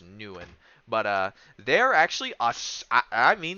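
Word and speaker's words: Nguyen: I know the G. It's not Papa Nuguin. You don't pronounce the G. So Mm, it's just Nuen.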